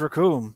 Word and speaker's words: Raccoon: Is the name's Raccoon, and it rhymes with Doom.